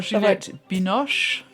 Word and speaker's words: Juliette Binoche: Taste of Things with your favourite French star, Juliette Binoche. That's properly pronounced.